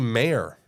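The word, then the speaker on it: Mayer: h Wheel car it's it's actually mayor Oscar mayor not Oscar Meer not Meer but they even like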